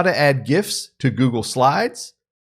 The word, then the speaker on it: GIF: gifts to google slides yes that's a hard g you're getting it here first this is my two cents gif rg it's not gifs and it's not juggle it's gifts and google anyway having fun there